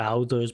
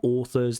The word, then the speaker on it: authors: I don't know any others who publish yeah not authors but authors. This au sound in English is usually in British English pronounced as an or like in horse.